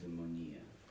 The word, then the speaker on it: Eudaimonia: The other one, Udadon, I can't pronounce it. Eudaimonia.